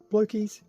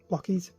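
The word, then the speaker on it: Blokees: Um, and this is actually a kit of Optimus uh from Blokies. Blockies. Blockies. I don't know why I keep thinking it's Blokies. Maybe it's just the way that it's spelled.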